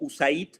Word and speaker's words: USAID: que es Eh bueno nosotros la pronunciamos en español como usaid eh En realidad no